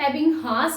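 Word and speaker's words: Ebbinghaus: हम इसको हिंदी में एबिंगहास बोल देते हैं, लेकिन इंग्लिश में जब प्रोनाउंसिएशन करेंगे तो हम इसको बोलेंगे एबिंगहास।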